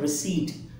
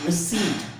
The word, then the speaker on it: receipt: अच्छा, इसे हम क्या कहते हैं, रिसीव्ड, रिसीव्ड, रिसीव्ड, रिसीव्ड कह रहे होते हैं. क्या है? That is called रिसीट. What's that? It's the right pronunciation of this word that is called receipt.